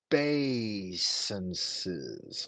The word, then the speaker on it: obeisance: Instead, he spoke back, equally without sound or language, and made those obeisances.